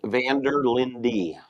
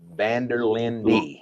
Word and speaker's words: Vanderlinde: last name all up how do you properly say your last name for everybody out here Vander Lindy Vander Lindy just like it's spelled all right well that